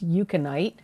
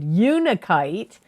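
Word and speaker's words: unakite: from may of 2022 is eukanite uh unichite sorry wow i mispronounced that i'm surprised i did unikite which cancer also got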